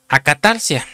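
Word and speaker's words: ἀκαθαρσία: de una palabra griega original que es se pronuncia acatarcia, que es el número strong.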